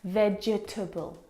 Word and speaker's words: vegetable: syllables in this word, vegetable. But there's not. There are three syllables. Vegetable. Can you see the syllable that we completely forget? The e. Vegetable. We don't pronounce that second syllable.